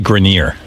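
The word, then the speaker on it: Grenier: It's actually Grineer.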